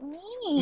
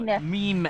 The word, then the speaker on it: meme: I'm like, why is it mean? No, meme. M-E-M-E.